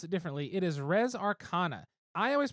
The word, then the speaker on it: Res Arcana: It is Res Arcana. I always pronounce it Re Arcana because of Republica, and maybe it needs to be Res anyway.